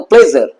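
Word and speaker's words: pleasure: ঠিক আছে আবার দেখো প্লেজার এস এস আসছে এস ইউ আর ই পি এল ই এস ইউ আর ই উচ্চারণটা কিন্তু জ এর মতন প্লেজার প্লেজার প্লেজার নয়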